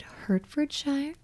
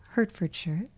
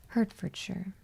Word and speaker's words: Hertfordshire: Is it hurtshshire? Hertfordshire. I feel like it's hurt, right? I feel like usually words that end in sh I r e with sure, right? Herford sure, right?